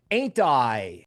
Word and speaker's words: AINTI: Ticker symbol AINTI, or phonetically AINTI. Ain't I wonderful?